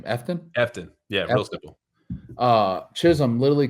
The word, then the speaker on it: Efton: Efton.